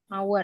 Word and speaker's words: hour: kan 1 jam kan en hour ya gini kan cara bacanya h-nya hilang atau h-nya silent jadi an hour cara bacanya gitu ya